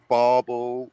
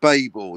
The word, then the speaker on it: Babel: these the characters inside do they all pronounce it Bible is there anyone on set on the day that said barbell no it's definitely Babel Babel is Babel not Babble bubble Buble I wonder